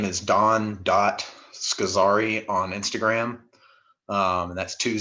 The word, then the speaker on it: Scozzari: you can find me my name is don scazari on instagram um that's two z's s-c-o-z-z-a-r-i and then don is spelled d-o-n not like the dish soap so